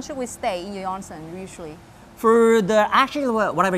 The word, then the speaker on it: onsen: do you pronounce it we say onsen in japanese onsen onsen that's how we